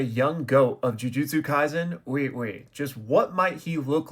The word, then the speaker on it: Ui Ui: In Japanese, the U makes an oo sound, like a double O sound. So uiui would be ui ui, uiui. Or wee wee, if you want to say it like that.